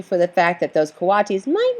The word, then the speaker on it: coatis: raccoony dogs these are coatis mrs. Brisbane said reading from the letter pronounced co-op teased the coatis looked weird